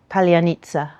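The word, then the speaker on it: паляниця: identify undercover Russian agents, because it's pronounced slightly differently in the two languages.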